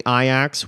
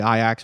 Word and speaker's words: Ajax: going to beat them benfica is playing iax which is spelt like ajax but it's out of amsterdam it's all confusing uh benfica is a portuguese team they're gonna play iax which is a dutch